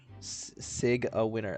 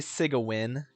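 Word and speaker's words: Sigewinne: blue diamond in them Sig a winner that's not at least say Sig a win if you're GNA say her name if you're going to pronounce it wrong I think you just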